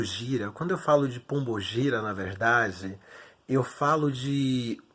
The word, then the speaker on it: Pombo Gira: magia um gira mas a pronúncia correta nosso meio aportuguesado né que o candomblé ele é brasileiro bato na tecla isso sempre vai ser pombo gira quem é bom fugir